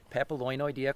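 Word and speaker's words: Papilionoidea: So, this patron actually wrote in and she said, "I think Violet has indeed been pronouncing papaloinia correctly. To be fair, I've never heard it pronounced.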